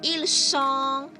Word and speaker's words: ils sont: Je suis, tu es, il est, elle est, nous sommes, vous êtes, z, the sound of z, and ils sont, elles sont. The T is silent.